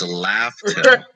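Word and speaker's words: Laugh Tale: It's Laugh-Tail.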